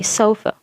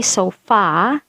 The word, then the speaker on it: sofa: schwa sound okay so you say sofa sofa sofa you don't say so far you don't say so